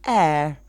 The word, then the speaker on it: heir: well it's a holiday very very few words with an H in English that we don't pronounce an example uh-huh hotel